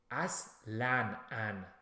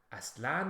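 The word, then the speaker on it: اصلاً: Tanween is from Arabic that we use in Farsi. And it's pronounced as an. Aslan. Aslan means never. Aslan.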